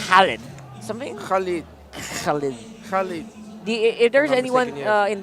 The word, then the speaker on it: Khalid: Yeah, Khalid. And the pronunciation is, he was trying to teach me the pronunciation. It's not the way that we usually say it. It's like a Khalid.